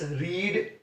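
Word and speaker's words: read: First form जो है वो रीड है, सेकंड फॉर्म को बोल के रेड, और थर्ड फॉर्म को रेड।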